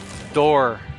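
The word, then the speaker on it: Dorr: His name is Pete, P-E-T-E, Door. Like the door, like open the door, but it's spelled, instead of D-O-O-R, it's D-O-R-R.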